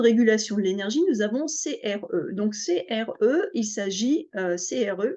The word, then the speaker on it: CRE: dire CRE mais ainsi on prononce les lettres alors qu'un acronyme c'est à peu près la même chose mais ça va être ça se prononce comme un mot enedis donc on va dire CRE et c'est un sigle